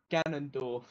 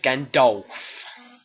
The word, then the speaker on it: Gandalf: Ganondorf. No, it's Gandalf. How'd you got? That's how you pronounce it, yeah.